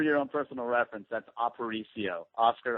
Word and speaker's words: Aparicio: Just for your own personal reference, that's Aparicio, Oscar Aparicio. Oh, look, see, that's fancy right there. Oscar Aparicio.